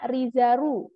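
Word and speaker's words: リザル: Jadinya Rizaru. Lagi-lagi di Jepang itu tidak ada L, jadi Rizar, Rizaru. Gampang ini, Rizaru.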